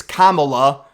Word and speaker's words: Kamala: And this woman calls, says the wrong pronunciation of Kamala. It's Kamala.